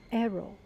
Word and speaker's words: Hero: story of this painting this painting is called arrow and Liandra arrow it's is written as a